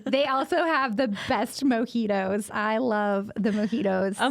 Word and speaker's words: mojito: They also have the best mojitos. I love the mojitos. A mojito. What is a mojito? What in the heck is a mojito? A mojito. I just pronounced the J.